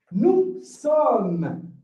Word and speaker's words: sommes: Nous avons, nous sommes. We don't read the S, all right? Nous sommes, not nous sommes. All right? Please don't make that mistake. Nous sommes without the S in the pronunciation.